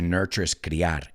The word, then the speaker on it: nurture: were nurtured right to nurture and if you notice both of those words have that t u in it which sounds like a ch nature nurture nature nurture and what's the correct